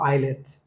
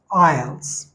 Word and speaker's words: IELTS: not islet now see this is not l-e-t this is e-l-t so it's IELTS IELTS ielt and IELTS